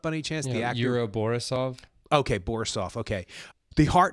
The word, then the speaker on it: Yuri Borisov: Yuri Borisov.